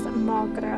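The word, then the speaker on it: mo ghrá: One dialect would pronounce it as Mogra.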